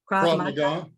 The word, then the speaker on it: Krav Maga: Krav Maga.